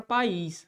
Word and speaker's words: país: agora Se alguém perguntar qual que é a posição da sílaba tônica de país eu diria o quê oxítona a posição aqui é de oxítona ó a posição é oxítona porque o que é um oxítona é a palavra definição gramatical é a palavra cuja sílaba tônica recai sobre a última sílaba então país é uma oxítona do ponto de vista